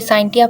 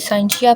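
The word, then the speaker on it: scientia: इसकी pronunciation change है, कोई इसे साइंटिया पढ़ता है, कोई साइंशिया पढ़ता है, ठीक है।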